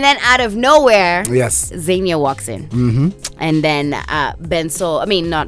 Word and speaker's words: Xenia: very how do we say your name correctly Xenia okay Nicola you ever had everything your whole